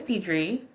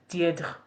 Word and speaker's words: Deidre: So my name is Diedre, and in French, that is Diedre. Diedre, Diedre. Diedre. Okay? That's my name. Forever it will be mispronounced because it's just not part of the French language, like the phonetics. That dr, Diedre, the dr sound, it's really, really difficult because it's just not part of French.